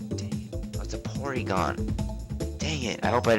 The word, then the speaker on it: Porygon: and eighty points all right this is a polygon that's a porygon dang it i hope i didn't say it